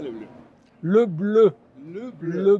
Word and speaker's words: Le Bleu: ¿Cómo se pronuncia le bleu?